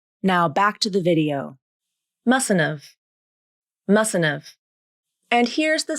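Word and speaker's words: mustn't've: I mustn't have gone with you. Here's how you pronounce it. You drop the H in have and reduce the vowel to the schwa, just like you did before.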